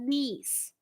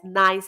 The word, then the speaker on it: Nice: place in France called Nice. So I love to use this as an example. Remember Nice. Okay. There's really a place in France called Nice. It's not pronounced as nice. It's called Nice.